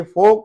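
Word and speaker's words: folk: पे योक है, इसमें एल है लेकिन एल साइलेंट है। और यहाँ पे ये फोक है, जो आम लोगों को, स्पेशली देहाती लोगों को फोक कहा जाता है।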